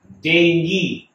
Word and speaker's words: dengue: and we keep seeing this word the correct pronunciation for this is dengue okay even though we might keep hearing dengue